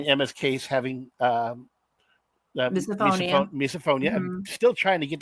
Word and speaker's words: misophonia: emma's case having um misophonia i'm still trying to get that pronounced right the wrong name category phonia so it's miso like in miso soup uh-huh phonia like okay that makes